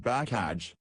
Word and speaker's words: Bakaj: "It's very scalable," said Bakaj, pronounced Bakaj.